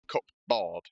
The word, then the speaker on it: cupboard: Why did they spell it cupboard? Imagine if you pronounced the silent letters as well, like cupboard.